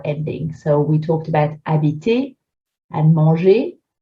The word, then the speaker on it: habiter: So we talked about habiter and manger. If you remove the ER and put an EZ, you'll get the same sound, habiter, manger.